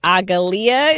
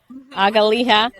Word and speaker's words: Agaliha: there's the one bush, Agalia, is that how you say her name? Agaliha.